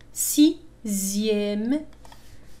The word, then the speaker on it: sixième: X تنطق تماما مثل Z. هذه في خاصة في الأعداد تسمى les nombres ordinaux. Deuxième. لاحظوا هنا X تنطق كأنها Z. Deuxième. Sixième.